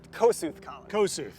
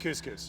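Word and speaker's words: Kossuth: site that was once called the kosuth depending I want to pronounce it the American definitely not couscous but ethnically it was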